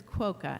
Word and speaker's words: Quoka: all right chair um it's Senator quoka it's sor polish name so just think of POC sorry about that no